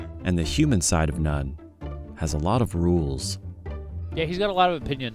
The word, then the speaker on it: n0ne: His gamer tag nun is also related to one of those rules. It's pronounced nun, but its meaning is no me.